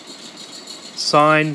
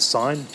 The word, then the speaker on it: sine: the first one is sine theta it looks like sin but we pronounce it sine sine theta equals opposite